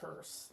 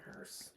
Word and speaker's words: hearse: everyone mispronounced the word hearse. There's no T in hearse.